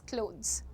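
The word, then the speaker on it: clothes: सो से it like क्लोथ्स not with a harsh थ sound. थ नहीं बोलना है। थ नहीं बोलना है। क्लोथ्स नहीं होता है वो। इट इज़ क्लोथ्स। ज ज़ ज ट्राई करो एक बार।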